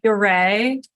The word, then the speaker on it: Ure: it sounds different than it's spelled, Okay. right? My husband's not from the area, so it's Ure, and there's a rolled R, but I've never been able to roll my R's.